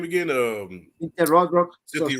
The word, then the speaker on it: Rothrock: Cynthia Rothrock. Cynthia Red Rock, yep.